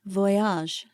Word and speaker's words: Voyage: asked who they were Patrick replied Voyage using the French pronunciation perfect I thought what